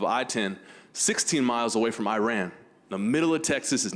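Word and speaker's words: Iraan: We needed to go up to Iran. It's spelled like Iran, the country, but 2 A's, like I ran away.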